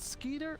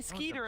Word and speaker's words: Skiter: times already is it sker or skitter I always thought it was sker you ever watch Doug no mate I would say sker as well because I think skitter would have two T's I don't know I